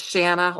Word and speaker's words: Shanna: name has been mispronounced my name is Shana like Anna and I've been called